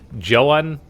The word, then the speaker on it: Zoun: JOAN, I believe, is the proper pronunciation.